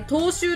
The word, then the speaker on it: 踏襲: 読むだこれちょっと調べるねんねえこれ踏襲って読むらしいですえっとねーそれまで